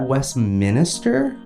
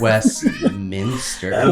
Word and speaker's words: Westminster: they so wait Mandy is that Westminister or Westminster Westminster Westminster okay yes now I'm